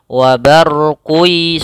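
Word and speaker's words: وَبَرْقٌ: Caranya adalah membacanya memasukkan tanwinnya ke huruf ya. Wa barqi sambil ditahan.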